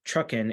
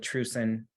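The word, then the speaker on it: TRUCEN: that that we have one of them is called Truckin it is spelled t-r-u-c-e-n so newbies always call it true sin I wasn't there when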